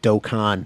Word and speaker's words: Dokkan: dokkan battle uh i i hate saying the word dokkan it doesn't feel good to me to say i like saying doke in battle i know now i know that it's the wrong pronunciation but even still anyway